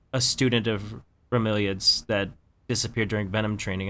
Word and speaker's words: Bromeliad: Bromelid? Bromeliad, I think. Bromeliad. Thank you. I can't say words. They talked about like 2 Rainwings that are missing, and one of them was like a student of Bromeliad's that disappeared during Venom training, and then Mangrove